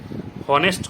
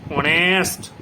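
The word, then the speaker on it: honest: তাহলে কি করি, অনেস্ট। কি করি, অনেস্ট, নট অনেস্ট, আমরা কি করি, অনেস্ট। তাহলে অনেস্ট করছি বলে সেখানে কি হচ্ছে, এন হচ্ছে, কারণ এইচটা সাইলেন্ট আছে, এইচ সাইলেন্ট আছে, ওই জন্য আমরা কি বসাবো, অ্যান অনেস্ট ম্যান।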